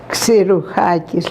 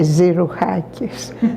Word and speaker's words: Xirouchakis: His name was Xirouchakis, that the Greeks pronounced the X, Xirouchakis, like a KS. And they don't say Zirouchakis, like Americans might.